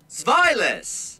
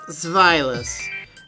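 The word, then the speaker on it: Zweilous: I want to hear how to pronounce Zvilas, huh? Hopefully I've been saying it right. Zvilas. Yep, Zvilas.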